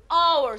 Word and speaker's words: hour: Aslında kelimem hour, saat demek. Peki neyle başlamış? Aslında H ile, sessiz bir harfle. Ama buna aldanıyor muyum? Hayır. Okunuşuna bakıyorum. Hour. Hour diye okuyorum.